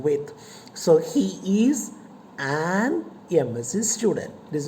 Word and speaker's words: MSc: But when you pronounce, you hear the sound A to begin with. So he is an MSc student.